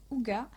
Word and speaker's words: hygge: d'un livre qui est le livre de ig prononcé aux gars mieux vivre la méthode